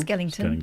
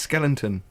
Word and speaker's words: skeleton: skeleton skeleton skelington Skellington skelington no that's wrong it's skeleton SK skeleton thank you very much